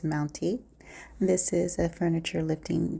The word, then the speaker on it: MTNTE: not sure how you pronounce the brand name but I'm going to say it's mounty this is a Furniture